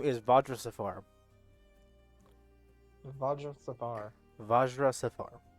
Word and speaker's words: Vajra Safar: don't know how to pronounce it. It is. The name is Vajra Safar.